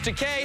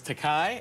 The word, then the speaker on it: Takei: I always thought it was Takei, and then one day I heard you correctly pronounce it to William Shatner as in toupee. That's right. Takei, everybody.